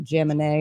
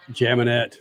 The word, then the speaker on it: Jaminet: stories yes yes yes his last name is what probably Gemini and I just butchered it statman help me out here the m a Gemini Gemini okay jaminette come on 23 years